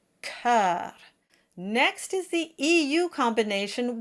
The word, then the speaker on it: cœur: And this word is often mispronounced as cour. This word is probably best memorized, but until then, just spell it out in your score as K-E-U-R, cœur.